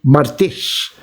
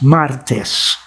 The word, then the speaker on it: martes: spanish for tuesday and we say martes also in filipino but i think we say it martice but in spanish it's martes okay so on martes